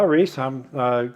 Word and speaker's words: Rhys: So I kind of took a wild guess at how to pronounce it because it's spelled R-H-Y-S. And I took a wild guess and said Reese, and I was right.